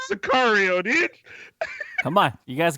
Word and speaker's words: Sicario: syllables. Go for it. Yeah. Sincaria. What? Chicago. No, is that Sicario? Bryce, you Bryce. want to fix this for him? Chicago. Chicago. Sicario did not win an Oscar. Sicario.